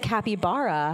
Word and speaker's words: capybara: is it Bara Barra it's Bara yeah I'm just because because it rhymes with my name yeah there you go so I always tell people oh yeah it's like capybara now now I'll remember